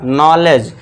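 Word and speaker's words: knowledge: नॉलेज। के को silent कर देना है।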